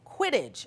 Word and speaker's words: Quidditch: Have you played Quidditch? Is that how you pronounce it?